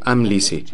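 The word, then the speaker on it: Amlici: Nuestra guía de pronunciación en la parte posterior del texto dice Amlisi.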